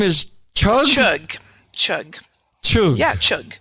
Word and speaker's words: Chugh: and your last name is Chuck Chuck yeah chug it's like the sounding good like uh chug